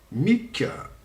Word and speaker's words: MICKE: Bon, par exemple, je vais vous faire montrer Mick, qui s'écrit tout simplement M-I-C-K-E, qui est celui-ci.